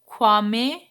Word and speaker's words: Kwame: So Nkrumah, this is uh, Kwame Nkrumah. Nkrumah, this is Nkrumah pronounced, who was a son of a goldsmith and himself a teacher, was active in the independence.